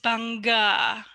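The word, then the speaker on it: bangga: the final word is Banga Banga so the first sound is B actually yeah but Indonesian people also pronounce the b a little uh soft so banga like this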